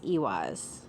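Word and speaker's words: Eihwaz: That's not how you spell it. It's ewis. Ewas. And this one is ewas, which is e i h w a z.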